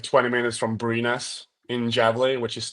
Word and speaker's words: Brynäs: How do you pronounce it? Brynäs.